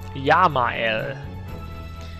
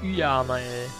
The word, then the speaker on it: Yamael: Spricht man wie J in dem Fall. Yamael. Und nicht Yamael.